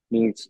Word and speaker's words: Ms: ছেলেদের ক্ষেত্রে সমস্যা নাই, তখন লাইক তখন স্যার মিজ মিজ তখন আপনি বলবেন মিজ, MS. বাট প্রোনাউন্সিয়েট করবেন মিজ, তখন এটা বলতে হবে। তখন এটা লেখার সময় এটা লিখবেন, বলার সময় এইভাবে বলবেন। So this is a professional way of addressing someone.